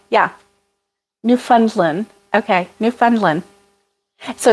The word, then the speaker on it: Newfoundland: that Alice Edinburgh yeah new funds Lynn okay Newfoundland so it's not New Finland it's Newfoundland see there you go ah Naomi yes ding